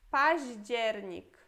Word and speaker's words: październik: Depois temos październik.